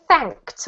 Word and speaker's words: fact: thank you great reading this word is fact with a t sound at the end thanked think yeah there